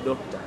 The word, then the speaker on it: Dokta: But it's easy to pronounce it as Doctor.